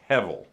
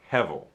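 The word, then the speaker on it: הבל: pretty right and you want to try to pronounce that it's hevel hevel okay hebel means a vapor or smoke okay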